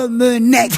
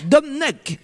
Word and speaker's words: Domenech: C'est-à-dire que tu enlèves les voyelles maintenant. Non, j'ai dit Raymond Non. Domenech. Non, tu as dit textuellement Domnech.